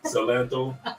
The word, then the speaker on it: Salento: Salento?